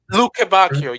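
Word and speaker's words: Lukebakio: Um I can't pronounce his name. Luc Lukembbe or Lukak Lukakio I think. Lukbakio.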